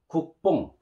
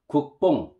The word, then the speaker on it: 국뽕: You know, double beep, we call b, b, b, and vowel o and ing, bong, pronounced as bong. So, 국뽕, 국뽕, 국뽕.